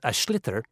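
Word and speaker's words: sliotar: basically you have to get this ball called ash litter that's SL IOT a or so it's not spelt the way it's pronounced u his ears into the net for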